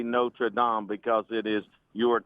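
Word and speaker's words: Notre-Dame: it the way the French say it. Notradam. It's the same thing. You just say you just say it differently according to where you are.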